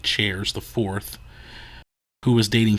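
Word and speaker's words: Cheairs: by nathan shares its c-h-e-a-i-r-s i think it's pronounced like chairs the fourth who was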